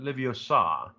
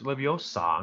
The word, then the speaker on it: Leviosa: Wingardium Leviosa. It's Leviosa, not Leviosa.